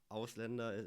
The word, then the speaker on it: Ausländer: It's with the this letter is called Ä. It's a A umlaut. A with 2 dots. It's pronounced Ä. Like the German A, we would pronounce without the 2 dots above it. We would pronounce it A. And with 2 dots, it's pronounced Ä. So it's the Ausländer.